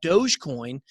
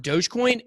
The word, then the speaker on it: Dogecoin: the comments they're saying it's not pronounced dogecoin it's pronounced doggie coin Jesus come on that